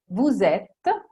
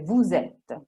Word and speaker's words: vous êtes: Vous êtes, voi siete, si dice vous êtes. Se dite vous êtes, è sbagliato. Ils ont, loro hanno, ok?